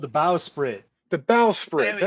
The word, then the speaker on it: Bowsprit: it's pronounced bow because it's spelled bow. Bowsprit.